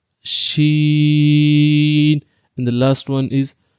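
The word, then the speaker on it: ش: So try to pronounce and say Jeem, Jeem, Sheen, Sheen, and the last one is Ja, Ja.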